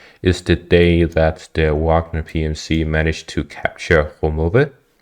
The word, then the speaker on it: Wagner: And I have received a lot of comments telling me that I should pronounce Wagner correctly. And they say something along the lines of Wagner. So I'll try to remember Wagner.